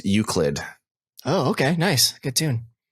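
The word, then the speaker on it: Euclid: Another name I can't pronounce, Uklid. Oh, okay. Nice. Good tune. Is that uh is that how I say it? UCLid. Uklid. Okay, you're good. I got it right.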